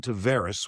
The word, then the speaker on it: Tavares: So it's no different than John Tavares. John Tavares told me it was John Tavares when he played for the Islanders. His brother played lacrosse. I went to him and asked him, and he said Tavares.